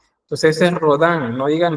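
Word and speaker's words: Rodin: Eh, tenemos a Rodán, es es eh acuérdese que bueno, todo lo que termine en I en francés es es se pronuncia como an. Entonces, es rodán, no digan rodín, es rodán.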